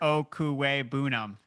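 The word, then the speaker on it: Okwuegbunam: him Albert o why don't you try to pronounce the whole thing for me so it's Albert o buam all right threw it in there so I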